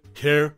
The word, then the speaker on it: Kerr: it's worth noting that Deborah Care's surname is pronounced as car not K or ker this pronunciation distinction often